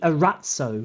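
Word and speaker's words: Arazzo: little look at the Arats Oh which is on our website it's spelt a our a Z Z Oh a rat so which is the Italian word for tapestry if you if you've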